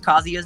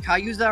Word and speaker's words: Kazuya: Didn't he say like Kayuza or something? Kazuya. Kayuza. Nate. And that's why me and him had this joke. I got him to finally pronounce it properly, so I was proud of that.